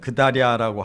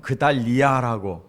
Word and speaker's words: 그달랴: 그 예레미야서는 그달랴라고 하지만 또 열왕기 하에 보면 그달리야라고 이렇게 조금 발음이 달라요.